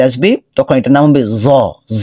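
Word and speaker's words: ز: এটা আগে দেখে নেই জিহবার আগা সামনের দাঁতি উপরের দাঁতের আগা এখানে আগাটা আসে নাই আচ্ছা জিহিবার আগা উপরের দাঁতের আগাতে স্পর্শ করবে আর এখানে নিচের দাঁতের আগাতেও আগা না বরং এর নিচে কিছু অংশ স্পর্শ হবে জ পড়েন তো দেখি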